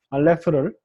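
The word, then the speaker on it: אלף: 요 알레프가 중요한 건 뭐냐면요, 알레프는 모음이 아닙니다. 여기 나중에 영어에 A자가 돼가지고 모음이 되기는 합니다만, 영어에서는, 그러니까 그리스 로마에서는 모음이지만 히브리어에서는 자음이에요. 어떤 자음이냐면, 목구멍을 영어로 이렇게 우리가 뭐 out 이 발음을 하든지, 혹은 뭐 미국 사람들이 막 놀랄 때 막 이렇게 놀라는 그런 장면에서 영어에 우리가 out를 발음할 때 맨 처음에 목을 닫았다가 살짝 열어요.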